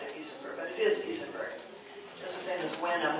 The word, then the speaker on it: Isenberg: So the stadium has far more space on one side, and it's wider on the other side of Isenberg, but it is Isenberg.